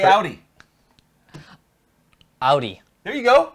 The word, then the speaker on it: Audi: I sit here and smile and look say Audi Audi there you go Audi there we go you said it right okay